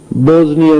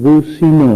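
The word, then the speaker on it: بوسنیا: رہے تھے کہ اللہ بوزنیا میں مسلمانوں کی، اللہ منصر المسلمین فی البوزنیا، حالانکہ وہ ملک بوسینا ہے، اسلامی ملک ہے، بوسینا اس کا نام ہے.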